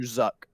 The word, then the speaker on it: Zhuk: Blank is someone was saying it was Mr. Zuck. Chuck. No, it's Mr. Zuck. Zuck. Yeah. ZHUK. That's in the book.